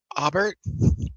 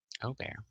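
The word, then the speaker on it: Aubert: Obear. What? What? What? O bear. Oh, that's the pronunciation. I just got it. Mhm. O bear. O. Got it. It's French. Sorry. There's no T sound.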